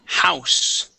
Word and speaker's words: house: And I want to go to the word house. House. Yeah, so we want to pronounce that H there.